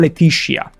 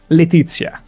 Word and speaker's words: Letizia: Our guests wish to speak to Not Letitia. Letizia. Pronounce that Z correctly.